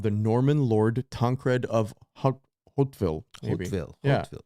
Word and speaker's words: Hauteville: the great-grandson of the Norman lord Tankred of Hauteville. Hauteville. It's Hauteville. I think we're pronouncing it right.